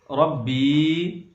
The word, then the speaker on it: ربی: اب ہم اگلا لفظ سیجے سے پڑھیں گے۔ ربی، را با زبر رب، با یا زیر بی،